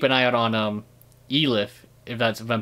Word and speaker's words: Elif: eye out on um elif if that's if i'm pronouncing her name right yeah that's pretty good it's a leaf e-l-i-f it's funny because she